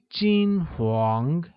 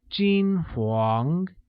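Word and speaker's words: 金黄: or blonde translates as jean huang which is pronounced with a high level tone on i and a mid rising tone on a like jean huang very good now let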